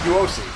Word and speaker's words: Duosi: King Duosi. That's what the name's pronounced.